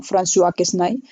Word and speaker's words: François Quesnay: Es como una S para nosotros, se pronuncia como François Quesnay.